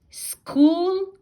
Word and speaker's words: school: so s pronounced and ch for the first time we have to pronounce it as k but the other time